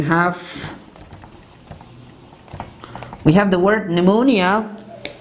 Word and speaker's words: pneumonia: we have the word pneumonia this is not panamunia it is pneumonia and mustafa for example